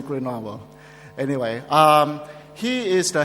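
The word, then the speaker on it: Grenoble: in GRE Noble France I thought I always pronounce it as grob and uh I was told it's supposed to be grovo anyway um he is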